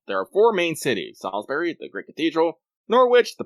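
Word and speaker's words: Salisbury: into section two actually don't know how to pronounce this is it Salsbury yeah Salsbury same as a Salsbury Salsbury okay so we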